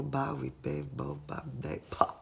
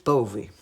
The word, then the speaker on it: Bowie: pronunciasse al suo nome dicevo bowebo bowie se no e comunque si dice david bowie ma la sua androgeni